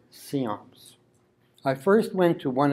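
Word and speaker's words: CIOMS: usually referred to by its acronym which is pronounced seance I first went to one of their meetings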